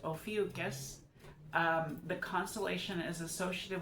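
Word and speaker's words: Ophiuchus: It is pronounced ofus.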